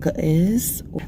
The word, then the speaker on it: Ge'ez: This language is called Ge'ez. It's spelled G-E-E-Z, but it's their oldest language.